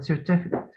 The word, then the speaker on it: certificate: Certificate is stress the first syllable عشان ده اسم فنقول certificate. Certificate ده كده verb. certificate. Yes, you say certificate. Certificate like record, like present.